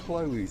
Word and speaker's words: Chloe's: special meals this is Chloe's as well Chloe's greatest Chinese Takeaway in downtown pathos that's for sure see you don't pronounce s at the end Mr Paulo Chloe is